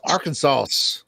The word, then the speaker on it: Arkansas: No, I learned that in Yeah, the the last S is silent. Learn that in the streets, cuz Arkansas.